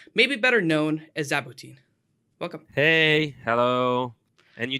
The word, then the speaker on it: Zaboutine: I'm really excited to please let me introduce, maybe better known as Zaboutine. Welcome. Hey, hello. And you didn't actually you pronounced my name well.